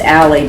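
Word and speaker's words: a11y: written this way or pronounced ally because it's just a you know there's eleven letters in the word and it's shortcut so there are five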